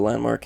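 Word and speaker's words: LVNDMARK: So Landmark, he's, he plays Escape from Tarkov, and he's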